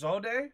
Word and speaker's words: Zod: were you able to withstand Zod's attacks? Excuse me? How did you pronounce that word? The ships are anchored at a distance. We're the advance party. I believe it's pronounced Zode.